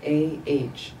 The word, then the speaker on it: ah: ohm o m at the throat a red a h ah a h just visualize again in the